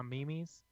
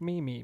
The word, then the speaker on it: meme: My favorite thing was when people didn't know how to pronounce meme and they were like Mimi, May. It's like, well, Meme. I know what you mean, but that's not how you say that.